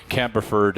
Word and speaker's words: Campbellford: I worked in Peterborough for a while, so there are some legendary stories about Campbellford, or Camberford, if you pronounce it like a local, I think.